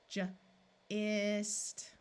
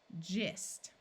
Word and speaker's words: gist: hard sound gag gag this G is followed by an I so we will try the soft sound first jist gist here we have an